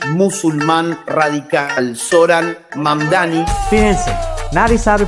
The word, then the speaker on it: Mamdani: Nueva York tiene un alcalde socialista y musulmán radical, Zoran Mamdani. Fíjense, nadie sabe pronunciar mi apellido. Que es admirado por Hezbollah y por Hamas. Es Mamdani, pero a cada rato me dicen Mundari, Mumnari.